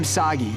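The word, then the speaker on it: Sagi: of overdue but I'm sagy rhymes with saki saki which I could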